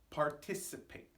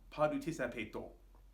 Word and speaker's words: participate: Pronunciation, also pretty easy. Participate. Now this one may be difficult for Japanese speakers because it has a lot of hard consonant sounds and very few vowels. It's not participato.